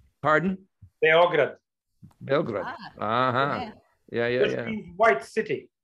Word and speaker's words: Beograd: You guys pronounce it in Serbia? What would be the accent? Pardon? Beograd.